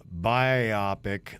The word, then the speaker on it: biopic: __ ] are pronouncing biopic like a biopic i'm dying over here it's bi sounds like the bi and bisexual and then optic sounds like optic with the t i hope this is